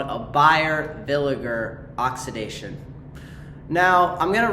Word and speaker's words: Villiger: Bayer villager, not villager. People have been playing a little too much Minecraft, I suppose. Um, what's called the Bayer Villiger oxidation and basically we